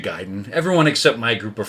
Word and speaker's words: Gaiden: now uh me and my friends we always grew up calling this game ninja gaiden because it's spelled a-i-d-e-n ninja gayden that's what i thought it was that's what we all thought it was come to find out everyone else says ninja gaiden everyone except my group